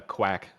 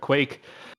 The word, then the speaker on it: Quake: who I know I I know I pronounced as uh Quack for for quite a while there, but Quake, you got Quake and um Squirrel here.